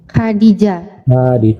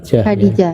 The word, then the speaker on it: Khadijah: Kalau Khadijah tadi pelafalannya sama nggak? Arab sama Indonesia? Ini pelafalannya sama nih, Arab nih. Khadijah. Khadijah.